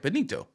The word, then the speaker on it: Benito: Sam Bennett Tito Benito I said it right Benito okay b-e-n-i-t-o Benito right San Benito yeah San